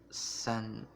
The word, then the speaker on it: Senjutsu: Number 8 is Iron Maiden with Senjutsu.